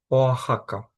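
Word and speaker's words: Oaxaca: Оахака.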